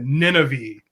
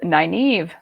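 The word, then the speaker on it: Nynaeve: i turned this into nina v which it's not even phonetic but nina v was what i always said and you can tell us the actual name it is naive naive naive but i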